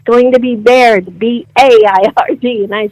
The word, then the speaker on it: Beaird: And that's how it's pronounced, Baird, right? Yes, it's pronounced Baird, both ways.